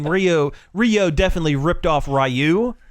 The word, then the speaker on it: Ryu: Rio definitely ripped off rayu or Ryu or however you pronounce it it's it's rayu in Street Fighter the movie the game